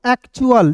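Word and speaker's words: actual: यहां पे देखिए ए सी टी को क्या पढ़ेंगे? एक्ट और टी यू ए एल को चुल। एक एसी को एक और टी यू एल को चुल एक्चुअल एक्चुअल मींस क्या होता है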